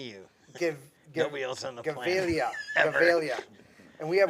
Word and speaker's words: Gevalia: It's Gavilia.